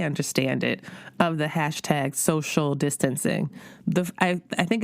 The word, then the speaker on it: Sewcial: And at the shop where she works part-time, the shop called Three Little Birds, they do a weekly sewing gathering called Social, and it's spelled S-E-W-C-I-A-L.